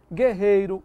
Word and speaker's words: guerreiro: Guerreiro, mangue, são outras ocorrências, o G forte, ó. Você não diz guerreiro e não diz mangue.